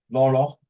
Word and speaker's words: Laurel: Where how you pronounce the name, Hanyan? Laurel.